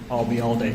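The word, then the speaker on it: Ayalde: okay what was that if you uh remember the phrase I'll be here all day and drop it here I'll be all day you got it and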